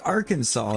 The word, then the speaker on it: Arkansas: It's like Arkansas, even though it's spelled Arkansas.